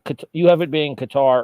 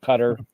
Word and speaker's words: Qatar: You have it being Qatar or Qatar, depending on how you want to pronounce it.